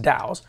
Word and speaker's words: DAO: timer it stands for decentralized autonomous organization it's pronounced daos it's just a new way to run an